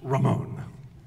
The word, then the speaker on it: Ramón: Okay, and the name is pronounced Ramón.